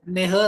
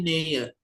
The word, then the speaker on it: Nähe: Enggak Nähe tapi Nähe. Bacanya Y jadinya.